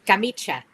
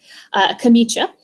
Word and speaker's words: camicia: I don't pronounce Italian. It's a camicia. It's that. I can pronounce French. I can't, Italian. Anyway, camicia.